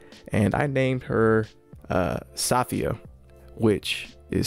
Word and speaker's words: Safiya: i named her uh safiya which is spelled s-a-f-i-y-a but it is pronounced for a lot of people uh sophia so that's kind of